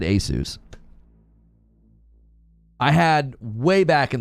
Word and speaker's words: Asus: responding to me oh I am saying it correctly Asus yeah it's Asus that's how Google says to say it what does Microsoft know